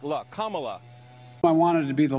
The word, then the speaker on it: Kamala: because it outlives falsehood her name is pronounced comma like the punctuation mark luck kamala i wanted to be